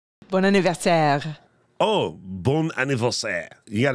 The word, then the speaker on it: bon anniversaire: Did I say that right? Was that Canadian? You're close. Okay. Well, how do you say it? I don't like being close. I like being right. Bon anniversaire.